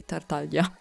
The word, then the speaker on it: Tartaglia: If I'm gonna pronounce it the Italian way, Tartaglia.